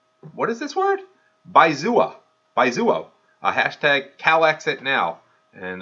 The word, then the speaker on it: Baizuo: I looked up what's a Baizuo, and so I looked up Baizuo, pronounced Baizuo.